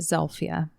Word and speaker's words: Zilpha: story of the murders of Jeremiah Pitman and zelia Lowry oh I have not heard those names so her name is spelled like Zila but her family pronounced it zelia okay so that's how I'm going to pronounce